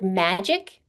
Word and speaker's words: magic: Magic, the stress is in the first syllable.